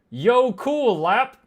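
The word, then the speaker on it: jökulhlaup: A jacalhop which is pronounced yo cool lap is a sudden and catastrophic flood caused by a glacial lake breaching its dam and draining.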